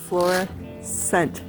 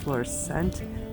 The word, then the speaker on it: Florissant: Florissant is how you pronounce it. Florissant National Monument.